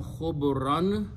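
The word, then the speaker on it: خبرا: So the word become khubran. When you stop, you pronounce khubra.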